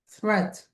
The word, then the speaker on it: threat: Um like for instance the word threat. Threat. Does that have a long e or a short e sound?